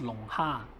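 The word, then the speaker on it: 龙虾: as the dragon or lobster is pronounced as long ha, which is dragon ha.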